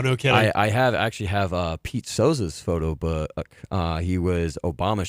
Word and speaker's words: Souza: I believe Souza. That is how you pronounce his name.